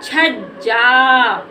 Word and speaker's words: छज्जा: छ जा छ जा इसमें भी देखो इस जा में य ज हमारा आधा है तो इस ज में हमें इसको बोलने में ज्यादा समय नहीं लेना है और इसमें आ साउंड का भी उच्चारण नहीं करना है तो छजा हम क्या पढ़ देंगे इसको छज्जा ये हमारा हो गया छज्जा